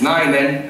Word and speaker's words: nainen: Oh wow, that's really good pronunciation. It's nainen and mies.